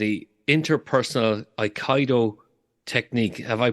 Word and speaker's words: Aikido: you have a lovely technique called a interpersonal Aikido technique have I pronounced that correctly uh Aikido Aikido okay so can you talk us through that